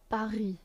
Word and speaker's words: Paris: C'est la première fois que je vais à Paris. Paris. Again, S is silent because it's at the end of the word.